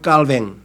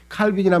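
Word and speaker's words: Calvin: 이게 이제 요즘에 그래서 우리나라도 뭐 칼뱅이라고 쓰는 이유는 뭐냐면 이 사람이 원래 프랑스 사람이니까 프랑스식으로 발음해 주자 그래가지고 칼빈이란 말을 잘 안 쓰고 그냥 칼뱅이라고 하는 말을 쓴 이유가 그거예요.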